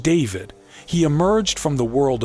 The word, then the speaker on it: D4vd: Known professionally as D4 VD pronounced David, he emerged from the world of social media